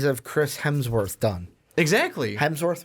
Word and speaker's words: Chris Hemsworth: Hemsworth, right? Hemsworth. Did I say that right? He did Helmsworth? Helmsworth.